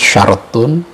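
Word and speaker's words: شرط: Syartun kalau ra-nya disukunkan, syartun, bentuk jamaknya syurut, artinya syarat.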